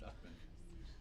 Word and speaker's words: Uchman: So, the last name's Uchman, pronounced Uckman.